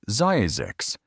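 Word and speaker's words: Zzyzx: Pronounced Zazix, this odd town sits along the edge of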